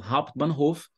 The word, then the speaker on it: Hauptbahnhof: Até a pronúncia já está aplicando aí as regras de pronúncia. Hauptbahnhof.